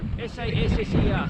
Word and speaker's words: Sasser: S-A-S-S-E-R, Sasser. You might pronounce it Sasser.